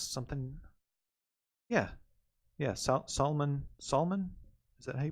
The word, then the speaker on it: Salman: something yeah yes Salman Salman is that hey pronounce it like Solomon almost Solman Khan No that's a